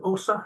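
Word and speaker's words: Åsa: you've got Anna and Osa, have I pronounced that correctly? Hmm. Yeah. Yep, correct. Anna and Osa, who are very much part of the sound.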